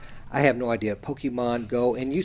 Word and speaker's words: Pokémon: Yeah, and by the way, it's Pokemon. It's that's the way the Japanese pronounce it. I have no idea. Pokemon Go.